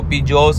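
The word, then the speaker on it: Pigou: अब कोई लोग इसको पिगू बोलते हैं। कोई लोग इसको पिजोस बोलते हैं। डिफरेंट डिफरेंट उसके टोन होते हैं। सब अलग-अलग तरीके से प्रोनाउंस करते हैं। मैं पिजोस बोलता हूं।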